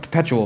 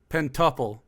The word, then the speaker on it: Pentuple: Perpetual, right? Is it perpetual? How do you pronounce it? Pentuple. Pentuple. Sorry, pentuple. I thought it was perpetual.